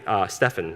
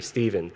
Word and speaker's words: Stephen: the other thing is my teacher would call me Stefan because of the way I pronounce fel my name and there was too shy to correct her and to the end of my first year to let her know that my name is actually Stephen she was mortified but